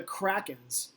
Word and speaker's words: Kraken: And I think my mom actually pronounced it. She was like, Seattle Kraken?